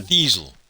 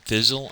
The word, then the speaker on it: Thiesel: Yeah, Thiesel. I gotta keep remembering how to say it. Gives me a hard time. I keep saying Thizzle, and it's actually Thiesel, as in diesel.